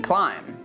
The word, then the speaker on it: climb: For example, the silent B when it's after M, like in climb.